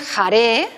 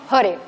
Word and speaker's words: Hare: Esto es una invocación y no es jare, sino hore, hore, hore, hore.